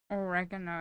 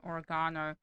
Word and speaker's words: oregano: can cut your H oregano is the American pron pronunciation oregano a British Australian pronunciation I think oh okay